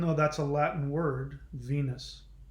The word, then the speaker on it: Venus: that's a Latin word Venus in the Latin Venus is pronounced when use so the V is pronounced like a W and the the E is pronounced a and the us sound right there are the u.s. spelling and sound right there being way noose that US is just